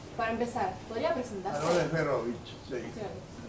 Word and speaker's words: Ejberowicz: Aaron Esperovich, sí. La J polaca se pronuncia ahí y la CZ final CH.